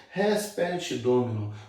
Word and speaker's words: res perit domino: A pronúncia aí, ó, res perit domino.